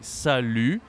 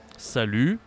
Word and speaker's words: salut: We say salut, salut, okay? So we don't say the T, for the pronunciation, and